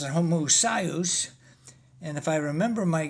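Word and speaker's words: homoousios: Now, you pronounce it homoousious and I pronounce it homoousious and if I remember my Greek, I thought the emphasis was supposed to be on the uh penultimate uh syllable.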